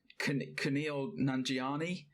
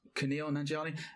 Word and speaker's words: Kumail Nanjiani: Kumail Nanjiani. Yes. Kumail Nanjiani.